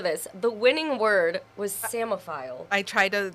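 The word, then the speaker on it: psammophile: it out for you it's p-s-a-m-m-o-p-h-i-l-e so I think I would have gotten the mo file yeah I would have gotten that but the same part with the two and the two M's and the silent P samophile so that is an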